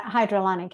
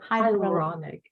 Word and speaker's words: hyaluronic: pronounce it for me hydrochloric acid did i pronounce that right i don't think so uh hydrolonic acid you've got to teach me that word before our next call say it one more time hyaluronic hydrolonic hyaluronic acid hyaluronic i got it